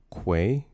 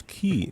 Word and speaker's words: quay: It's pronounced quay. Uh, say it with me now with a Q. Quay. Quay. Mhm. Quay. Not. I don't know who says key. It's a quay.